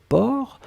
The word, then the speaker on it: porc: la dernière chose c'était port alors souvenez-vous que port on ne prononce pas le ces finales d'accord mais on